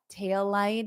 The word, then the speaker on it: tail light: So you pronounce the L twice. Tail light. So you hold it out for both.